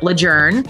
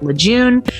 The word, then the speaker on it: Lejeune: of all no one tells you that it's pronounced Camp lejour you can tell usually who has been stationed